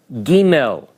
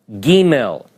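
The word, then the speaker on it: גימל: your chart you'll see this letter is called Gmail Gmail it has an English approximation of G the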